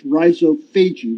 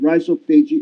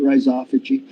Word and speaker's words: rhizophagia: they termed this process rhizophagia rhizophagia or rice sauvage if you want some people pronounce it rhizophy but rhizo means root feiji meaning eating so root eating to